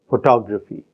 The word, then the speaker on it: photography: your photo photograph Photography in the first word the stress is on the first syllable it is on the first and third syllable in the next word and it is on the second syllable in the third word photography so we have